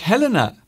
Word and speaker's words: Helen: So thank you very much, Helena, for that.